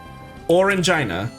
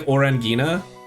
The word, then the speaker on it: Orangina: Orangina. But it's not, like, it's not pronounced like that, right? It's French, so it's... Would it be like Orangina?